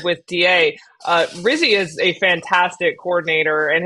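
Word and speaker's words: Rizzi: pick for head coach it would rhyme with fizzy but I think he's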